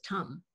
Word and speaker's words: Tam: Mai and Tam, I think you pronounce it Tam. Tam is Tam.